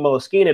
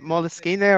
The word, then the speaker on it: Moleskine: That's the one thing about Moleskine that was always nice, was how good it felt in your hand.